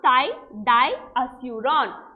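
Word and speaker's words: thidiazuron: naa ty diazeuron so this is how you pronounce thai di aseuron so which one is the answer what is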